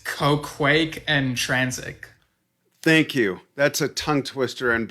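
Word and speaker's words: Qoquaq Ën Transic: quack quack quack quack i know how to pronounce it it's ko quake and transit thank you that's a tongue twister and brain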